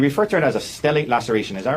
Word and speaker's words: stellate: And you refer to it as a stellate laceration. Is that right? Yes. And am I pronouncing that right, Stellate?